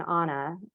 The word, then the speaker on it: Anna: They call her an Anna, A-N-N-A, but in the Nordic pronunciation, as they call all of the sort of hired girls and help and daughters of immigrants, Annas.